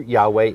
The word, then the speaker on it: Yahweh: is the jewish encyclopedia now jehovah or jehovah a mispronunciation of the hebrew yahweh the name of elohim